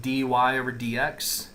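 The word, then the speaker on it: dy/dx: okay we're taking a derivative okay this is pronounced dy over DX this is pronounced Y prime we say D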